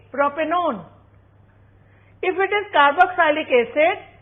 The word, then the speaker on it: propanone: it will be propanel if it is a ketone we will add onee but we will not pronounce it like one so it will be propanone if it is carboxylic